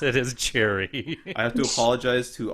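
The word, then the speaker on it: Gerry: pronounce it is Jerry.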